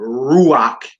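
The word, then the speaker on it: רוח: to the last syllable therefore Ruach is stressed on Rue and rakia is stressed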